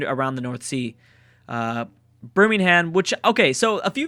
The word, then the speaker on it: Birmingham: spelled the same way uh that's why I pronounced it like brimingham I guess it is Birmingham Birmingham Birmingham like the uh City from Bama